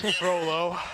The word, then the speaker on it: Frollo: Frollo, I've been pronouncing it wrong the whole time. Frollo.